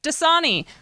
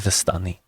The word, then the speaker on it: Vastani: sounds great um wait dasani do you want to travel i'm sorry fasani and she vasana assaulted vasani it is vastani and if you say it wrong one more time i will curse you dust donnie and she